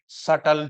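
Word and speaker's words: subtle: similar body design and सटल changes S यू बी टी एल ई B silent है इसमें सटल changes का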